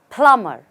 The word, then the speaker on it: plumber: call him a plumber the right way to say is plumber there's again no be just plma plum and you have your plumber let's look at it in